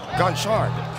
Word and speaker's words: Gonchard: I remember when we had Stephen Ginchard play for Hong Kong Eastern, we've been calling him Ginchard the whole season. It happened to be Gonchard.